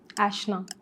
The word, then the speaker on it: Aishna: Ashna. ऐशना। मैं आपका वही प्रोनाउंसिएशन वाला क्वेश्चन मेरा भी था।